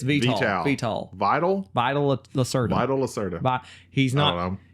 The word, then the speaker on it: Vital Lacerda: to play this game because it's made by Vito Lacerda. Vito Lacerda? Is that how you say it? Vito? Veto? No, that's like Vital? Vital? It's Vital. Vital. Vital. Vital? Vital Lacerda.